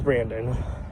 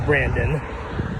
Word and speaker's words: Brandon: you to pronounce me pronounce my name as brandon not the hispanic way so that's all i'm